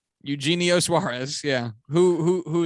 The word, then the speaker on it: Eugenio: dude good for you eugene no eugenio suarez yeah who who